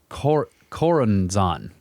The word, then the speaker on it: Choronzon: The Aeon of Horus, Choronzon, that's how it's said, the demon dweller of the Abzu, the waters of the deep.